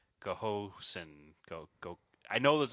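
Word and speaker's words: Ghosn: to pronounce it because I thought it was Goan it's not Goan because it's G hosn so it's like Goosen go go I know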